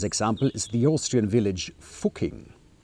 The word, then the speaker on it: Fucking: Another famous example is the Austrian village Fucking. I pronounce it the German way, so I don't have to beep it out.